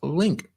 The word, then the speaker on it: LNQ: embedded with a microchip called LNQ, pronounced Link. Okay, so it's called Link, that provided consumers with the item's provenance and ownership history seen naturally on the blockchain.